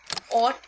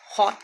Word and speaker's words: Hautee: Actually में ऑट इसकी pronunciation है। कुछ लोग इसे हॉट कहते हैं। कुछ इसे हॉट ही कहते हैं। सब अलग-अलग प्रोनाउंस करते हैं। बट एक्चुअली में इसकी एग्जैक्ट प्रोनाउंसिएशन ऑट है।